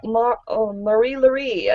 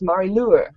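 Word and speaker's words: Marie-Laure: I was like, oh, it was like Marie Lurie, and it's like, no, it's Marie Lure.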